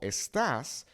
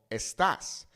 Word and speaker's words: estás: You can see here in this example, ¿Cómo estás? We have the accent here on this A, okay?